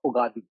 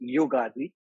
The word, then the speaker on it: Ugadi: the today is the holiday of bugatti the but the actual pronunciation is yugardi because because how you